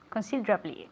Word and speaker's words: considerably: Considerably. Sí, eso es, pero díselo a la gente. ¿Qué hemos aprendido ahí? Tienes que enfatizar el dra, considerably. No, la I, pero La I perdemos la I. desaparece. Eso es, considerably, okay?